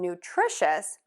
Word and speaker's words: nutritious: Now for nutrition and nutritious, what we are going to do is we're going to shift that stress to the to that middle syllable.